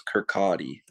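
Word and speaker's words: Kirkcaldy: the l is actually a double like they pronounce it with it like as a w so it's kirkati okay well you dominated that spot so after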